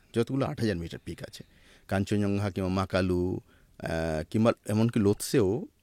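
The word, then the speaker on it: Kangchenjunga: ওয়াল কাঞ্চনজঙ্গা কিন্তু ওখানে কাঞ্চনজঙ্গা কথাটাও কিন্তু একটা ডিবেটিয়ান শব্দ এভারেস্টে যেমন বললাম চোমলুঙ্গা না ওটা কাঞ্চনজংঘা নয় ওটার মানে উচ্চারণটা আলাদা হ্যাঁ খানসেন দেংজা হ্যাঁ তো কাঞ্চনজংঘা শুনতে তো কাঞ্চন সোনা জংঘা ঠাই হ্যাঁ একদমই তা না এটা কোন সংস্কৃত শব্দ না কানসেন দেংজা মানে ফাইভ ট্রেজার অফ স্নো পাঁচটা মাউন্টেন আছে ওখানে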